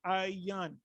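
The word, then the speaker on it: עין: So how do you say I in the Hebrew? You say I in the Hebrew, you say ayan.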